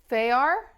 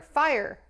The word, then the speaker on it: Fyar: Oh, hello Fyar. Did I say your name correctly? say it like fire. Fire.